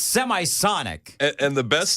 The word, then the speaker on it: Semisonic: Closing Time yep and Semisonic Semisonic but apparently I shanked the pronunciation I guess of what did I say you said seism monic I have hold on